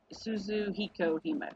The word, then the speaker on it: Suzuhikohime: not limited to, Shiki, Jinkougyou, how do I pronounce his name? Jinkougyou. I don't know. I don't know. Suzuhikohime, correct? Suzuhikohime.